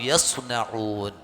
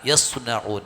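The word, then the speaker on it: يصنعون: ബിമാ കാനൂ യസ്നഊൻ, സ്വാദാണ് കേട്ടോ, സീനല്ല, സ്വനഅ യസ്നഊൻ. അത് പാരായണം ചെയ്യുമ്പോൾ തന്നെ ആ സ്വാദ് ഉച്ചാരണത്തിൽ വരണം.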